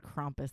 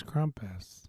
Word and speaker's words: Krampus: passionate about it so for the record we have said both krampus and krompus this episode we haven't been able to find like what is the legit way to pronounce it because we've heard it both ways krampus we've said krampus but then you immediately said krompus the next time that you said it so no it's krampus you're you're getting in